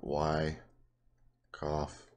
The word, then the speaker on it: Wyckoff: schematic it's called a I'll spell it out for you it's called why cough distribution and all it